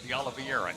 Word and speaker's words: De Oliveira: That foul will be called on De Oliveira. De Oliveira is how you pronounce her name.